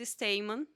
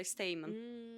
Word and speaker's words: Steinmann: correto você pronunciou correto Originalmente você fala está Emmanuel mesmo a minha família optou por a portuguesa a pronúncia e a gente fala esse tema quando os avós chegaram